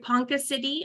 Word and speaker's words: Ponca City: he lives in am I saying it right Ponca City Oklahoma yes all right and he received a